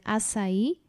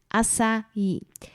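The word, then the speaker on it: açaí: rzecz która dotyczy wymowy powszechnie słyszę że niektóre osoby czytają jagody asai Akai jednak nie jest to do końca poprawnie ponieważ tutaj po portugalsku nazwa ta ma literę C jednak jest to litera C Z ogonkiem tak zwanym seką sesji Gila i czyta się to właśnie c jako literkę s stąd więc poprawna wymowa tych właśnie jagód i tak właśnie mówią na nie Brazylijczycy to są jagody asai także na samym końcu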